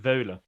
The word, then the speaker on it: Wohle: Now, Wohle, is that the correct pronunciation, Joshua, or not? Almost. Wohle.